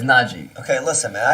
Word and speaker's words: Najee: It's like Nagy, but it's Najee.